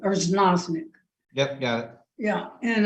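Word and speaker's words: Erznoznik: Okay, this is Erznozik. Erznozik.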